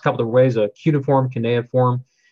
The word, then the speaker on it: cuneiform: beginnings of written language and what's called its pronounced couple to raise a cuneiform can they inform it's a basically language that's